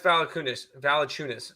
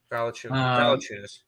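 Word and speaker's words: Valančiūnas: You butchered Jonas's last name. Jonas Valanciunas. Sorry. Yes, I know what you mean. I'm sorry. It sounds like you said five figures. Valanciunas.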